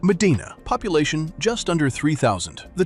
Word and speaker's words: Medina: Medina, pronounced Medina.